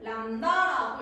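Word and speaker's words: λ: 나타내 한글 말고 기모 파장이라는 거는 요렇게 람다라고 읽어요 람다 기호 파장의 기호는 람다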